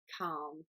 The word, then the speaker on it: calm: it's quite difficult because it contains the letter L in the middle and alot English learners want to say that letter they want to say cow but it's actually silent so you don't have to say the L you just need to say calm so this is it